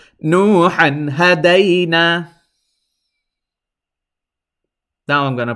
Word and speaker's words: نوحا هدينا: Now notice when I'm pronouncing it, I was holding it in my nose, and that is incorrect. Because why? This ha fathatan han has to be pronounced clearly without holding in your nose anything, because this is one